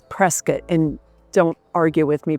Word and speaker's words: Prescott: So, for that one person out there, you know who you are, who always likes to comment about how I pronounce things. It's Prescat.